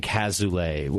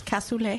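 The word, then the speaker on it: coulis: you brought koule uh I always go back and forth between saying koule and kazou how do you how is what's the correct way you can't pronounce it casually it's the right way it is it is coule coule coule is it a Belgian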